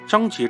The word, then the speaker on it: 张岊: 事实证明，一般叫张杰这个读音且需要查字典才能读出名字的人都会是西夏的噩梦。